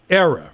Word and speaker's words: Era: Now, I know in your recording career, you recorded for RCA Victor and also, is it pronounced Era Records? Era Records.